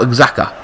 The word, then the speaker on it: Xhaka: Eleni is coming off for Xhaka. It's funny I can pronounce that name. Silent X.